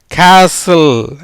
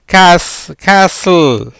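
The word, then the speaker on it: castle: அப்போ அந்த மூன்றாவது எழுத்தாகிய டீக்கு உச்சரிப்பு கிடையாது. இதில் என்ன? சிஏ உயிர்மெய் எழுத்து, எஸ் மெய் எழுத்து, எல் மெய் எழுத்து, ஈக்கு உச்சரிப்பு கிடையாது. எப்படி வரும்? கே, எப்படி வருது? கேசல். எப்படி? கேசல்.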